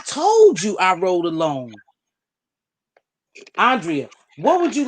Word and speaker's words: Andrea: these people i told you i rode alone andrea what would you like to add to that because after that we're gonna talk about uh the bank go ahead andrea what would you like to add today because